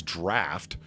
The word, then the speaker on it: draught: I take issue with pronouncing draught as draft, but other than that, it's okay to be wrong. DRAUGHT is somehow pronounced as DRAF.